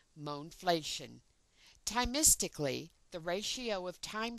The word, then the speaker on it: mohnflation: For clarity, this kind of inflation should be termed mohnflation, as in money inflation, with a pronunciation of mohnflation.